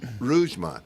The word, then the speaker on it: Rougemont: That is Rougemont, the way it's pronounced, North Carolina.